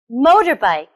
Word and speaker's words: motorbike: Motorbike. Motorbike. Where do you think the stress is? on the first, second, or third syllable. The stress is on the first syllable.